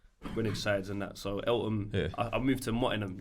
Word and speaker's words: Eltham: Yeah, Eltham. Feltham without the F.